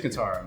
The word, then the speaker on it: Kentaro: I forget his Kentaro, right? That's how you say it? Yeah, rest in peace, Kentaro, man.